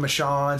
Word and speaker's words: Michonne: He was pronouncing her name Michonne. Somebody else was pronouncing it Michonne. That's why I don't, know for sure how to say her name.